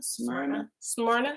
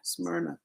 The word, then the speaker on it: Smyrna: Smyrna. Smyrna. All right, and that place is spelled S-M-R-Y.